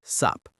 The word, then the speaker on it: what's up: Native speakers usually don't say what's up clearly. They say it fast, what's up, or sup.